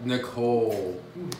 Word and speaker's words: Nickol: the awesome J Nikhil Nicole it looks like it's spelled nickel how often do people